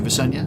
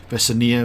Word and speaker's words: Vesania: taking with me to visenya vesania visenya i wouldn't know how to what the intentional intent intended pronunciation is i think visenya sounds right to me uh but yes